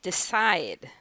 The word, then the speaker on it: decide: Do we say "deCIDE," "enJOY," and "beLIEVE"? "This time the second." Correct! Two-syllable verbs are usually stressed on the second syllable.